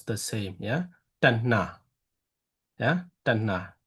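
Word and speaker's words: taṇhā: T and this both alphabet will have to pronounce the same, yeah? Tanna, yeah? Tanna, not Tanha, yeah?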